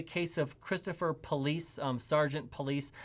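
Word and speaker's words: Pullease: of christopher police sergeant police i know it sounds like i'm saying police i'm not i'm not saying his name right the way you spell it is p-u-l-l-e-a-s-e i think we're going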